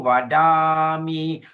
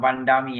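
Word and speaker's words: vadāmi: And then sapurisang wadami. Wadami. Wadami. Yes. Short a long a short. Ya. Wadami ya. tryemangisang wadami satu satang sapuram wandami wadami wadami yes wadami ya not wandami ya wadam yes what it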